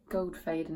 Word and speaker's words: Goldfaden: I was talking about this today and someone pronounced it correctly. Goldfaden AMD.